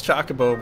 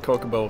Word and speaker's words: Chocobo: I know it's Chocobo, but I've called it Kokobo from a very early age, so... It's not even Chocobo. You still can't pronounce it.